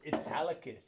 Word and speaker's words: Italicus: with some aperol and this is italicus it rhymes with metallicas and this is a